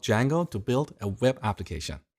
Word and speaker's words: Django: So, it's spelled with a silent D and it's pronounced Django.